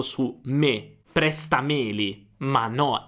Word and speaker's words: prestameli: Quindi se presta rimane presta, allora Meli non ha un accento.